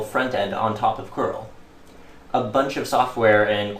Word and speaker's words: curl: curl which can also be pronounced crl stands for client for